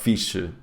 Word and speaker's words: fixe: - For example, do you know the word "fixe" (cool) in Portuguese? - Yes, "fixe".. Fish? Fish? - Yes, fish! (Joke; Portuguese "Fixe" sounds like "Fish" in English) - How do you say this in Galician?